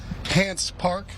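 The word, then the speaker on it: Hance Park: Will Brinson, Ryan Wilson, John Breech, Tyler Sullivan, hanging out here in beautiful Hants Park, Did I pronounce it right?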